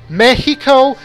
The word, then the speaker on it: Mexico: it breaks those rules Mexicans generally pronounce the name of their country mehico giving an H sound to the X even though there's no precedent for that in any language the original word was Mexico I don't know how